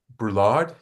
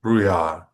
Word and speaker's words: Brouillard: It is now my pleasure to welcome to the show uh, Philip Brulard. Did I get that right? Brouillard in French, Ah, so Bruyard. it's not a Uh, pronunciation usual in English.